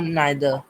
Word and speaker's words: neither: यस सर, आइदर और नाइदर, नॉट। अच्छा, इसके प्रोनाउंसिएशन पे थोड़ा सा डिस्कशन होता है लोगों का। Both द pronunciations are correct, ठीक है।